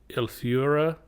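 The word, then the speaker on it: Eleuthera: He even knew where it was heading, Preachers Cove, which was on the neighboring island of It's hard to pronounce, Elura.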